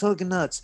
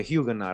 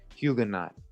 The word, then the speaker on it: Huguenot: i'm like who's these hugging nuts hugging nuts but a huguenot right that's how you say it hugo knight what does a huge